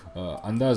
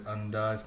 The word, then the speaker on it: Andhass: Joseph says Andhass, Nahi sir. Andhass? Is that right? Andhass? Am I saying it right now? Excuse me Andhass. for my Andhass. It's A. He says ANDHASSSSS.